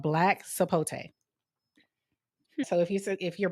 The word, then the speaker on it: sapote: It's called black sapote.